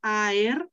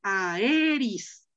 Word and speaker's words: aer: Aer, aeris. Aer, aer. No, no, no es aer. Así sería en español. Pero acuérdate que ae es diptongo.